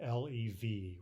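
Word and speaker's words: лев: use the English letters, L-E-V, right? It ends with a V in Russian, a V, but it's pronounced as though that final V were an F, lev, right?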